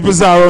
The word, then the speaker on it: Bazarro: DJ Bazarro in the building. What up? Yeah. AKA DJ Bazarro.